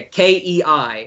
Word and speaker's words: Kei: those all these pronunciations Kay key I think it's just Kay Kay yeah Kei right yes yes yes yeah but